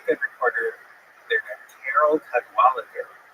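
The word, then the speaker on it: Cadwalladr: So there's a very good reporter there named Carol Cadwalader. The last syllable is kind of interesting because there's no vowel. It ends with DR.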